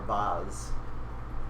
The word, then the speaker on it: vase: It's a It's a vase tank or a vase, depending on how you want to pronounce it.